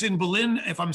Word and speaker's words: Belen: And it's in Belen, if I'm saying it correctly, New Mexico, B-E-L-E-N, New Mexico.